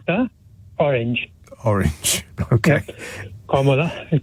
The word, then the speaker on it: Kamala: Kamala is pronounced like this.